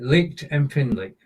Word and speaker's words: lichtempfindlich: Put the breathing break between licht and empfindlich. Right. Lichtempfindlich.